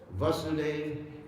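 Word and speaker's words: Vāsudeva: Vasudeva, Vasudeva. Vasudeva, with the long A, means the Supreme Personality of Godhead, the all-pervading Lord, like Om Namo Bhagavate Vasudevaya.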